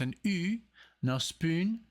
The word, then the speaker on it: NOSPUN: with the with the band called No spoon but because it has the um louds on the U so it's an uh spoon the death of Simpson